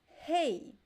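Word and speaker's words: rei: don't remember the other word that i said hey hey hey means king hey with the bone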